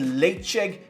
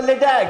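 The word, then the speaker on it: Ledaig: czech 10 years old now if you're wondering what i'm saying it's spelled l-e-d-a-i-g and yes i spent many months many months early on in my whiskey in my whiskey career asking for the for a la tag hey can i get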